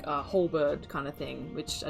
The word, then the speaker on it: halberd: of like a halberd kind of thing, which I don't think is how you say it, but like a halberd.